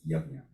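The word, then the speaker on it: यज्ञ: But so this is also very important because we had a couple of discussions about, how to pronounce this Jnya, it is Yajna.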